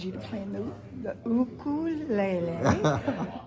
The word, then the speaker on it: ukulele: Uh, so the way I was taught to say it was ukulele. Yeah. In Hawaii, that's how they pronounce it, you know.